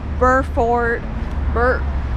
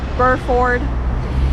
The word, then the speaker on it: Burford: today okay so i probably said it wrong before it's burr ford okay i still can't say it but burr ford um anyway we only